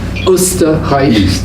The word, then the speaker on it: Österreich: Incidentally, Taco was from Austria, which in German is pronounced as Österreich, the dimension of the East.